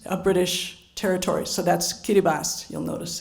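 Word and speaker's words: Kiribati: known an independent country now known as as Kiribbas. That's how you pronounce it. It used to be the Gilbert Islands, a British territory. So that's Kiribas.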